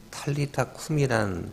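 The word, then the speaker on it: 탈리다 쿰: 그러면서 41절에 달리다 원래이 말은 이제 탈리다 꿈이란 발음이 안 된 것인데 탈리다란 말은 소녀야 품이 일어나라라 뜻이에요.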